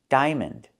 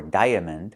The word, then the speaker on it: diamond: I that's the long i like high and by di. Diaper. Diamond. We don't say diaper or diamond. We say diaper and diamond. One vowel, one sound.